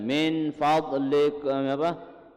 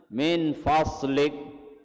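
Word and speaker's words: من فضلك: Dad dibacanya sad misalkan. Ulang. Min faslik. Ini salahnya. Min faslik masih kok. Itu bukan sad, dad. Dad itu. Jangan dibaca min fad jangan. Kalau baca itu berarti bagian dari Al-Qur'an. Ini dad. Dad ini bukannya sad.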